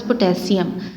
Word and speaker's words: पोटेशियम: इसका जो है वो एक सही प्रोनाउंसिएशन होता है आपके पास पोटेशियम।